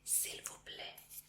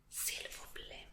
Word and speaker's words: s'il vous plaît: Entonces, por favor, se dice s'il vous plaît. S'il vous plaît. Y te voy a escribir cómo se dice, cómo se escribe.